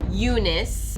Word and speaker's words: Unice: one the unicorn fanatic Unice not spelled with an e but spelled with a u cuz it's unicorn Unice Eunice was not always